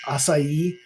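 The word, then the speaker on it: açaí: has like some sort of some people say Akai they're saying like 12 different ways but I always get told is it's pronounced acai so now I've gotten used to saying it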